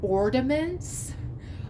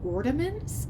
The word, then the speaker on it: ornaments: By the way, I just learned this week that it's not ornaments. I always pronounced it with the D, ornaments, and it's ornaments.